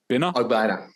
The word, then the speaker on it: Ogbonnia: How do you pronounce his name? Ogbonnia.